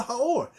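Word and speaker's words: האור: How do you say the in Hebrew? Right. Ha. Ha. So it should be, if it said God called the light something, it should say the Ha'or.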